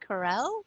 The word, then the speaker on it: Karel: Is your last name pronounced Corell, or is it? Yeah. Is it? Yes. Corell. Okay. Corell.